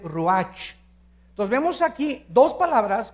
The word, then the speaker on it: ruach: en hebreo es nepe y la palabra espíritu es raj se escribe ruach entonces vemos aquí dos